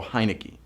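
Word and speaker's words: Heinicke: Smith or Taylor heiki heiki I know you got to think hinek in and just go heiki to say his name right Q3 what is the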